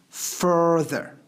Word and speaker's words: further: it's absolutely different meaning that's why it's better if you pronounce further okay so actually you write it like a father and you can pronounce it like a father but it's better if you pronounce it like further what is further further